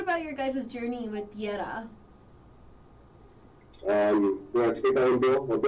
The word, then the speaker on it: Tierra: It's Tierra, but depending on where I'm from, which way should I pronounce it? Right. I've been practicing rolling my R's just for this, okay?